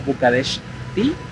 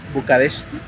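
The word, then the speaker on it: București: Bucarest en rumano es como Bucareshti, Bucareshti, es la pronunciación, y es la ciudad más poblada en Rumania.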